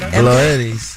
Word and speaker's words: Glorelys: Glorelys.